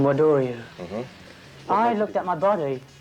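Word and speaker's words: Wado-ryu: It's called Wado, or they pronounce it in Japan, Wadoryu.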